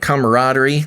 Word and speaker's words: camaraderie: They create instant camaraderie.